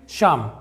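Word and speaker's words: psalm: अगला है दोस्तों यहाँ पे शाम। इसका मतलब होता है भजन, यहाँ पर भी पी साइलेंट है।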